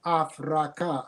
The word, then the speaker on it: Afraka: the in the Covenants I spell the the word for what is commonly called Africa by afraka I use three syllables from the metal means